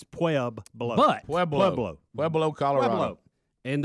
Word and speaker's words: Pueblo: Pablo. It sounds like the place you used to mail to get government printing. You remember they'd say send it to Pueblo, Colorado, whatever. Pueblo.